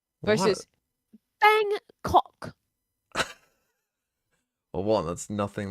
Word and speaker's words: Bangkok: big city of Bangkok I don't like when the British people say it as like two distinct syllables come homie thanks for